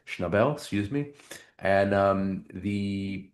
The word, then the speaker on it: Schnabel: It's directed by a great director, Julian Schneabel, Schnabel, excuse me.